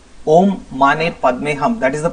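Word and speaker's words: Om Mani Padme Hum: Om Mane Padme Hum. That is the pronunciation.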